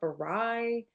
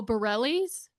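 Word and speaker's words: Bareilles: It has Renee Elise Goldsberry, Sarah, I don't know how to pronounce her last name, the singer Barai. Oh, Borelli's? Yes, that's it.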